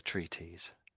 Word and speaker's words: treatise: It sort of looks like that, but we say treaties.